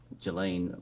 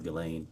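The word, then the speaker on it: Ghislaine: that in 2024 uh Gilain Maxwell or Gileain I think is how it's pronounced arranged and wired uh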